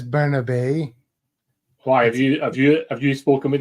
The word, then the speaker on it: Bernabe: How do you say Bernaby? Well, his name is Bernabe.